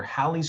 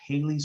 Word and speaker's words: Halley's: the most famous comet it's called either halley's comet or haley's comet both of those pronunciations are correct i'll call it haley's